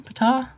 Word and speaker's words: Ptah: Ptah?